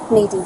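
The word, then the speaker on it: Naadien: Naen. You're going to have to spell that one out.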